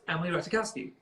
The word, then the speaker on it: Emily Ratajkowski: was like, oh no, it's Emily Ratajkowski.